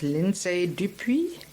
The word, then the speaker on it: Lindsay Dupuis: Dr Christine Z and today I'm talking with linday dupi you got it I got it oh my